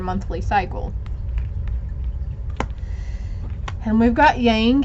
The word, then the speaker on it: yang: cycle and we've got yang here yong actually is pronounced yong yin yang balancing that